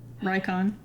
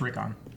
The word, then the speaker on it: Rickon: Yeah, Rykon, like Nikon cameras. Maybe Rickon. I'll never stop. 'Cause I've already forgotten how to pronounce it correctly. It's just Rickon.